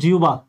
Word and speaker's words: জিহ্বা: যেমন আপনি দেখেন আমরা কিন্তু জিবা বলি না, এটা শুদ্ধ উচ্চারণ হলো জিউবা।